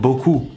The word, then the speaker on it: beaucoup: pronouncing it incorrectly so you'll know where your pronunciation of this sound is most important let's start with buku buku it is obviously said most of the